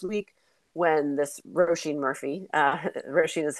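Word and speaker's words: Róisín: And I was reminded of this week when this Roisin Murphy, Roisin is how you pronounce her name, was canceled for she was outed.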